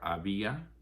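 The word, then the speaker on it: había: has two forms either abia or ib is h-a-b-i-a accent on the i ubo is h-u-b-o ooble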